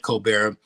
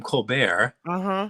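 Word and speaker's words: Colbert: not the most well they pronounce it the same coar that's why I wonder the yeah the coar report I don't know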